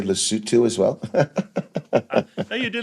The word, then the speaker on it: Lesotho: What would you like me to say Lesotho as well? No, you do Lesotho very well. It's President Trump who goes Lesotho. Well, that's how it's spelled, so it's understandable.